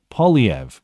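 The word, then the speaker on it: Poilievre: Pierre, dude, I'll never be able to pronounce it, but thank you for the pronunciation guide. Polyev.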